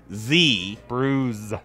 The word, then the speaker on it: Bruz: do you spell that b-r-u-z bruise bruised beers it's the best of